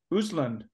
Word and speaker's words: Östlund: Östlund.